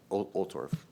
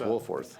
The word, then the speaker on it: Wolforth: Ulturf. Can't pronounce that. West. West. That's why that's Wolforth. Okay.